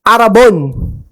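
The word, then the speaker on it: ἀρραβών: Now, this word is particularly interesting because in Greek word, it is arabon. Arabon. Parang ibon, no? Arabon. But that's how they say it.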